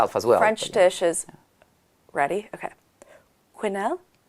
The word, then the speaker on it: quenelle: Quinnel. Canel. Canel. Oh, this one is difficult to pronounce. Yes. Yeah. Everyone thinks I'm saying canel.